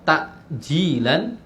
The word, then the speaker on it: ta'jilan: Tapi jangan bacanya jangan pakai hamzah ya. Kalau ta'jilan keliru. Karena kalau takjil artinya mengakhirkan justru. Sunnahnya menyegerakan pakai ain, ta'jilan.